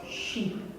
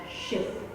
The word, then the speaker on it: sheep: of the words was sheep sheep be careful not to pronounce it as ship ship because the children can understand it as a ship that's on the water here is a car